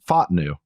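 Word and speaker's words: Fautanu: his name right it it's apparently it's F new yeah I I oh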